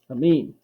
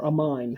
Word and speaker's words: amine: It's an amine, and I know it's an amine because the ending is actually amine, or amine, however you would like to pronounce it.